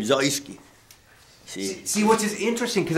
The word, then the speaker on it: Zeuske: actually real pronunciation is zoyski but in the army they always call me zeus because zeus is in key see i just went along with it but it's a german name zoeski see which is interesting